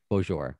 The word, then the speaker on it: Beaujour: name do i say bijol do i have an accent to it bonjour okay yeah i i like it it's it's i mean in french it's bonjour but yeah bonjour i speak to people